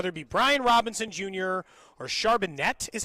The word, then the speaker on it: Charbonnet: Yeah, the Chiefs brought No, I know, but it is like 1,000% Charbonnet.